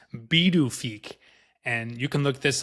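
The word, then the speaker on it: Pituffik: So it was renamed to, I'm going to say it how it's spelled, Pidafik, but it's pronounced Bidufik.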